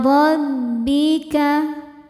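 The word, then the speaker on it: رَبِّكَ: Inda rabbika. Huruf ra dibaca secara tafkhim sebab ra berharokat fathah. Cara membacanya, ra dibaca dengan tebal.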